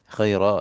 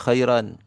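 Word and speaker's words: خيرا: Tapi para ulama sepakat untuk Al-Quran maka dibacanya menjadi khaira misalkan seperti itu. Jadi iwad. Jadi apa? Tidak ditanwinkan lagi. Tapi para orang-orang Arab biasa membaca ya. Bisa sebagian suku misalkan itu membacanya dibaca mad khaira. Sebagian lagi baca khairan.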